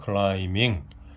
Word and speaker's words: climbing: B자는 묵음이기 때문에 발음이 안 돼요. climbing a high mountain.